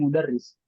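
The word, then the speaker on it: مدرّس: Tasdidnya, nah di bawah tasdid itu ada garis kan? Nah itu sebagai kasroh. Jadi tasdid dan kasroh. Maka dibacanya mudarris.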